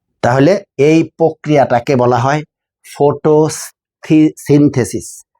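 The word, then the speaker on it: photosynthesis: উচ্চারণ যখন আমরা করি তিনটা এখানে সিলেবল আছে। Photo সিন্থেসিস।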